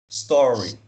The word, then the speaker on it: story: a primeira fila começa aqui ó essa primeira sílaba só store in store é ea segunda o rei então fica tó rei story isso é histórico ritter da store in store